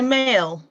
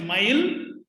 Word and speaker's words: Mayil: Yeah, so Mayal. Did I pronounce that correctly? Yes, my name is Mayil.